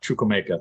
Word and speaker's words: Chukwuemeka: Yeah, Chukwuemeka.